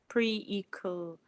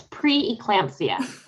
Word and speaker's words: pre-eclampsia: of complications such as pre-equal i put all these words and i don't know how to say them it's pre-eclampsia pre-eclampsia yeah i know what